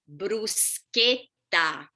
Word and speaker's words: bruschetta: repeat with me so remember ch k sound so what is the right pronunciation of bruschetta yeah when you order